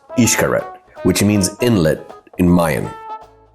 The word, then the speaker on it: Xcaret: Before I got here, I kept calling this place Xcaret. It's actually pronounced Xcaret, which means inlet in Mayan.